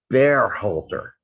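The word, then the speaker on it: Berhalter: way we're pronouncing uh burhalder um i really do prefer tactical's pronunciation of bear holder because that is how it would be pronounced if he were like still german which is that's like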